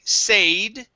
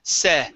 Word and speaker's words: said: Okay, instead of saying said with a long A, this is said.